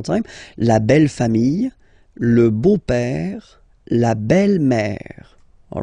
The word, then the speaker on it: beau-père: Okay, so père, okay, father, so father-in-law, okay, in French it's le beau-père, the beautiful father. Le beau-père. So remember this E-A-U combination of vowels only give you the sound O, beau, okay, le beau-père.